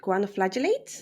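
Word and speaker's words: choanoflagellates: I think it's pronounced guanoflagellates.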